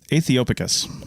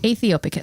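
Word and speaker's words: aethiopicus: to pronounce but it's ethiopic ethiopic ethiopic it's the AE sound MH or I guess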